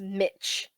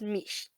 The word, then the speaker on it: Mish: The one that everyone pronounced Mitch. Mitch. Yeah, when it's pronounced Mish.